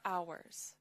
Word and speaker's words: hour: Em thấy chữ H nó bị cầm không? Đọc là hour.